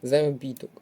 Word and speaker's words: заробіток: наголос не підходить варіант заробіток паде на третій склад наголос слово теж не підходить